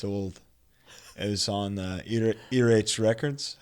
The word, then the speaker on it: Earache: It was on Earache Records. How you pronounce this?" And I was like, "Earache," and he was like, yeah.